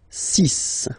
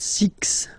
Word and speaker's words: six: be careful here because even if it's ending with this x well you'll have to pronounce it like s okay so you get the sis pronunciation Sis Sis okay so it's not six it's sis all right then here